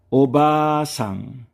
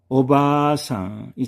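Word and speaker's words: おばあさん: 오바상 오바상이 장음이지요. 오바상 장음 아가 들어가 있습니다.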